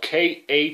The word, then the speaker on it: Khalil: and not to mention his first name is spelled k-h-a-l-i-l pronounced khalil i i i just